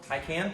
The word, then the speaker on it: Taycan: Taycan? Talk on it? It's Taycan. Taycan. I know, I hate it. It's spelled Taycan, but that's like a very Midwestern way of saying it.